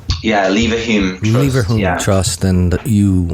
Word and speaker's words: Leverhulme: Am I pronouncing that right? Yeah, Leverhulme Trust.